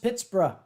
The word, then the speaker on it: Pittsburgh: yes and hadron you're correct it should be pronounced Pittsburgh and Jekyll Von canap are you still proud